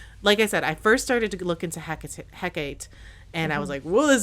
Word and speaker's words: Hecate: There's multiple pronunciations. I'm going to say Hecate, but it could be pronounced Hecate, Hecate, Hecate, Hecate, Hecata, literally, there's so many different pronunciations for her, and I pulled them